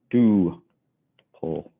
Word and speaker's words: tuple: down a pronunciation there pronounced do pull so a tuple is